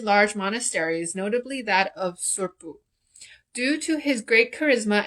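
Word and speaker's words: Tsurphu: Also, I was pronouncing the Karmapa's temple wrong. It's Surpu Monastery.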